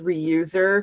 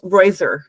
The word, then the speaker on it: Reuser: We have a company we work with at my workplace and it I always thought it was Reuser because it's spelled that way. Yeah. It's Roer. It's a German name.